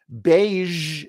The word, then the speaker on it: beige: it but right there beige it's a color so she's wearing a beige dress here are some other words where that Z is at the very end massage that's how we say it here's another one Prestige that's how we say it Prestige thank you where sh